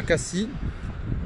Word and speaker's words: Cassis: C'est la route qui mène à Cassis, parce qu'on ne prononce pas le S en fait.